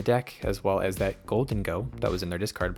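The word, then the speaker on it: Gholdengo: It's Golden Go. Okay. I always have been saying goldeno, so sorry about that.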